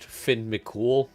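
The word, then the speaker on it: Fionn mac Cumhaill: for anyone who's unaware this guy's name is actually pronounced Finn mol which an amazing name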